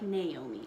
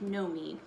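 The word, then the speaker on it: Noemi: her name is pronounced know me because it's not like Naomi it's like no me who is a human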